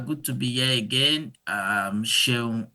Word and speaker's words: Seun: So to pronounce my name is pronounced Seun.